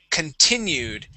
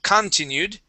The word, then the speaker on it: continued: And this word here is continued. Instead of continued, the stress goes right here on that I.